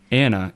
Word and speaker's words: Anna: But when with the English, um you know, they drop the ch and it's anna.